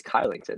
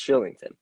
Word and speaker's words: Kylington: because i was like oh it's kylington no it's shillington um i mean this